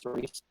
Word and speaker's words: Rhys: That's how you pronounce that, Rhys, Reese.